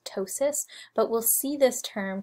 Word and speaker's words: ptosis: insertion of this term ptosis. So ptosis is a medical term that means muscle drooping. The P is silent, so it's just pronounced ptosis, but we'll see this